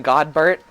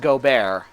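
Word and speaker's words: Godbert: plan do you mean God Burt and before anyone corrects me that it's pronounced go bear it's definitely god Burt oh wait we're actually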